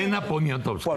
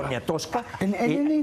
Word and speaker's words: Elena Poniatowska: Elena Poniatowska, así se pronuncia. Elena Poniatowska. Poniatowska.